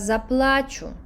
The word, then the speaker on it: заплачу: О, я зараз заплачу. Acento en a, llorar.